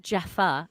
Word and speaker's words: Jaffa: say it well i'm saying it like it's pronounced jaffa even though we say java cake but it's